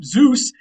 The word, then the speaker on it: Zeus: It wasn't just a Z like today. It was more like a DZ sound. Sometimes a ZD sound if they flip the order of those two letters.